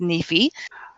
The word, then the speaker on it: NEFE: is with the National Endowment for financial education pronounced Neifi okay well first before we began I'd like